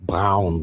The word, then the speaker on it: Braun: A more recognized NASA rocket scientist is Nazi Feron Brown, pronounced Brown, which is who was involved in the moon landing project, although Jack Parson's contributions are understated.